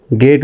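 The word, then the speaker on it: get: তো জিতে এখানে জির পরে ই আছে, ই থাকার পরেও এখানে জির উচ্চারণ গর মতো হবে, জ্বর মতো হবে না, হওয়ার কথা ছিল জ্বর মতো। তো জি ইটি গেট উচ্চারণ হবে, গেট।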